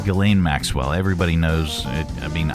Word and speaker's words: Ghislaine: So how do you pronounce her name? Ghislaine Maxwell. Ghislaine Maxwell.